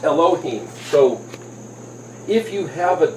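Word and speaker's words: אלהים: get a L H I am but it's pronounced Elohim so if you have a dot up here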